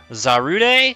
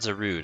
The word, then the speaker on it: Zarude: today we're looking at I think it's pronounced I actually haven't seen this film yet zarude cuz it's not zerude I don't think it's zerud it's one of the two zarude but I'm pretty sure it's zarude so that that's the